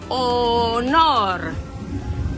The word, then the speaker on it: honor: H is a silent letter in Spanish, and it doesn't have any sound, so it's called, usually it's called a silent letter. So you just ignore it and jump to the next sound letter. So it's honor. Honor.